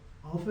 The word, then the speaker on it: alpha: Gamma Delta Epsilon okay so alpha is father beta B is involve